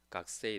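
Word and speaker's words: 学生: 와타시와 각세이 데스. 그래서 각세이라는 말이 뭐 이게 제대로 읽으면 일본어를 그대로 읽으면 가쿠세이죠.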